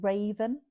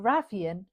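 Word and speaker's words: Ravyn: be the love interest is called like Raven, but it's spelled weirdly. So, it's like R A V Y N. And I keep wanting to be like Rav because that is a name and then Yun, but Ravian isn't maybe it is Ravian,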